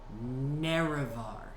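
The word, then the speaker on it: Nerevar: Naravar. If you say it wrong, you'll get nothing. Naravar.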